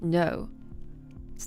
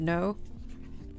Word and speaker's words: Noe: My name is spelled N O E and it's pronounced no. It's not Noi.